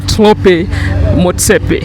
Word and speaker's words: Thlopie Motsepe: hope I don't M this name but uh toope Moe Mr chairman Peter yes nice to have you no it's a wonderful pleasure to be here and uh you say my name very well tropy M very happy to be uh on your wonderful